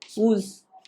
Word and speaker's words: Woese: तो सबसे पहला पॉइंट है, इट was given by sir Karl वूल्स, WOESE, spelling को शायद एक बार देख लीजिएगा, लेकिन ठीक है, WOESE, कार्ल वूल्स सर ने।